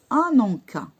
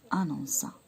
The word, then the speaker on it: annonça: Ananka. Ananka. On peut le prononcer. Non. Quand le C, d'accord, rencontre un A, il faut lui ajouter la cédille pour qu'il se prononce C. Annonça.